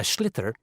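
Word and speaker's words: sliotar: this ball called a schlitter that's s s-l-i-o-t-a-r so it's not spelt the way it's pronounced you hit it into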